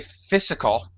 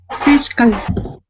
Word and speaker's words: fiscal: Monica You should not say physical. All right, okay. You should say what? Fiscal. Fiscal. Fiscal. Yes. One more time, Monica? Okay. Fiscal. Fiscal. Very good.